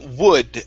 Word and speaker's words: would: here with this word instead of saying okay and pronouncing an oo sound all the way through open your mouth okay because it's uh here uh you cannot say it's only an uh sound and if you open your mouth it's impossible to pronounce the oo sound okay so you you're gonna start off with the ooh and then open your mouth slightly i would would be okay good